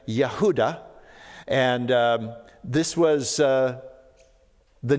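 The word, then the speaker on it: יהודה: it was very popular the Hebrew pronunciation would have been yahudah and this was uh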